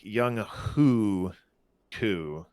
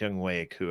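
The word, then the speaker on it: Younghoe Koo: hey well it looks like it's it's like young who two but it's young way coo apparently so i like i like to get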